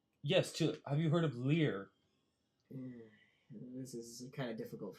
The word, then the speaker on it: Lir: Yes, have you heard of Lear? This is kind of difficult for me. And he looks at your. Some people pronounce it Lear.